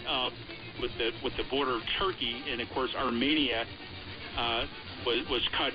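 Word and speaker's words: Türkiye: Now it's in the country of modern-day Turkey, or the modern-day pronunciation is Turkey-A.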